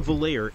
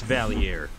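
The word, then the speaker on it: Valliere: I'm convinced of it Nick trilli used to say Ian valer every video it's like dude you know it's valier you know it's dick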